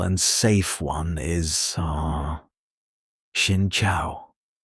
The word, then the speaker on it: xin chào: But a simple and safe one is uh xin chào. Pronounced sin chow. Say it slowly. Xin chào. Again. Shin chao.